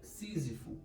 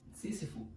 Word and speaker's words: Sísifo: Estamos falando do grego Sísifo ou Sísifo, tem essas duas pronúncias, né? Mas aqui falaremos Sísifo. Bom, vamos entender um pouco a história dele para começar. Sísifo, ele foi o rei